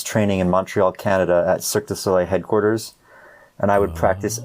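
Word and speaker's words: Cirque du Soleil: it be Circus, if I say it right, Cirque Du Solei?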